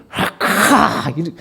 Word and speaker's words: 라카: 그래서 이제 이 멸시할 때 쓰는 대표적인 말이 라가라고 하는데, 이게 이제 리을이 원래 히브리어는 목구멍에서 나오는 발음을 표현한 거예요. 원래는요. 그래서 라카 이렇게 표현을 해요.